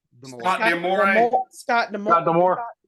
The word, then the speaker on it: D'Amore: Scott D'Amore. Scott D'Amore. Got the more. Yeah, That it, D'Amore.